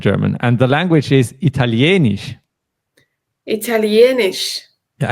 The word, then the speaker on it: Italienisch: And the language is Italienisch. Italienisch. Yeah, and here the stress moves to the E. It's not Italienisch, but Italienisch, right?